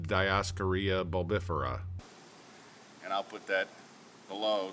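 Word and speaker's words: Dioscorea bulbifera: are really into botney the Latin name is discaria buera one small correction folks since Latin isn't my first language and I don't think Latin is anyone's first language this is actually pronounced diaria bifera and I'll put that below so you can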